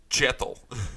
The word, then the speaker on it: Kjetil: Change it to more of a ch sound. Kjetil.